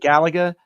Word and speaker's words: Galaga: Galaga? Galaga, not the film Gattaca.